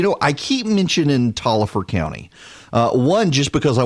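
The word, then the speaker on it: Taliaferro: the virus you know I keep mentioned in Tolliver County one just because I want to prove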